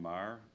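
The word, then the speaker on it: Meagher: the town of danvers my name is marr first question will always be how do you spell that it's m-e-a-g-h-e-r it's the old gaelic spelling of the name i live at 23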